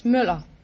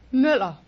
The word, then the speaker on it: Müller: Moeller, is that right? No, it's Müller. It's what? Müller. How do you spell it?